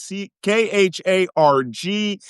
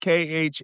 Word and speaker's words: Kharg: Kharg. You will also see it pronounced Khark.